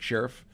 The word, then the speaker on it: Scherff: Well, so I went with Brandon Scherff, right? That's what the star is for. Pronounce it like Sheriff.